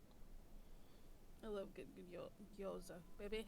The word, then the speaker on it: gyoza: But I had 6 gyoza and almost a full thing of pineapple fried rice with marinated tofu. Living large. Oh, That's the good stuff. Gyoza. I love good gyoza.